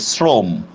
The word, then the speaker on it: শ্রম: হবে এটা যুক্তবর্ণ না আর শ্রম শব্দের উচ্চারণটা হবে এভাবে শ্রম শ্রম ঠিক আছে কেন এরকম হবে কারণ দেখেন আমরা তালব্যস লিখলেও উচ্চারণ করতেছি কিন্তু আমরা দন্তস্য ঠিক না নুনস উচ্চারণ করতেছি আচ্ছা এবার দেখেন এই